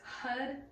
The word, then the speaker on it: Hud: Okay, what we're chanting is Hud, Huddy. So roll your R on Hud, or pronounce it like H-U-D.